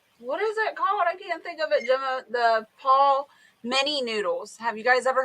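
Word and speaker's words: Palmini: Paul, like the palm. So it's Paul Mini.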